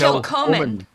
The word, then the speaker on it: Kilchoman: Kilhoman? Yeah. Kilchoman. Kilholman. That's Kilholman. the easy way to pronounce Kilchoman is just to ignore that there's a C in there at all.